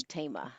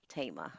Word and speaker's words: Tamer: It's actually Tamer. Tamer.